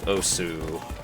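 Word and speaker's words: osu!: I did play a decent bit of Osu, or Os, depending on how you want to pronounce it, when I was in high school.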